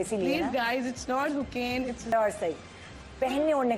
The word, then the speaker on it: Hocane: मैं समझ रही थी इसका जो है सरनेम होकेन है होकेन अब वो उसकी स्पेलिंग है एच ए एच ओ एच ओ